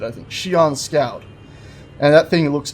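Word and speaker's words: Xi'an: on the Zion Scout it's not Zion I know that Shion there we go that's how you said it I think Shion Scout and that thing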